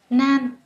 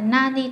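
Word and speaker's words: 何: cái gì á, thì chúng ta sẽ đọc là nan, đúng không ạ? Nan tội, không phải là nani tội, nan tội, được chưa ạ?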